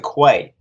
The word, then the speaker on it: Quay: toll site I mean that was that was the name I was given originally and it wasn't until I was being called on set the description or the pronunciation of that name turned to Quay and I didn't question